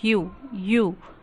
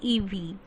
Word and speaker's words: ewe: Ewe, we pronounce it you. We don't say ev, it's you, a female sheep.